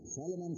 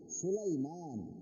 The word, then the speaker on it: سليمان: সালেমান কই, সালেমান শব্দটা গলত, সুলাইমান।